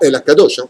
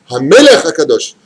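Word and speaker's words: המלך הקדוש: Baruch Ata Hashem, attention, pas à El Akadosh, pas à quel Akadosh. Non, non, non, non, non, non. Hamelech Akadosh. Ah, je l'ai bien dit avec le dagesh dans le même.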